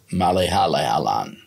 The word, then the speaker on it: Malayalam: This one is a language of India, Malayalam.